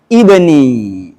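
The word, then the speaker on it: ابني: Kalau kita mulai secara kata inna bacanya ibni.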